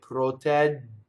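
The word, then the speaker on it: protegge: This double G is like a DG, right? So a same rule applies as the double T to form it. I don't do two G's. I do the long A, right? I go up to the D and then I don't say it. Protɛgge. And then I say like a J, right? Like the just, like in English, just, right?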